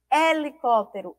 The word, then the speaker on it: helicóptero: Ó e F5 palavras Elas vão apresentar a inicial H E essa letra h não apresenta som certo e vamos aprender aí